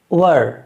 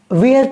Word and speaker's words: were: इज़, एम, आर, वाज, वर। इसको अक्सर students वेयर पढ़ देते हैं, जबकि वेयर के माने होता है कपड़े पहनना, वो WEAR है, WEAR, और इसमें जो स्पेलिंग है वो बिल्कुल अलग है, WERE।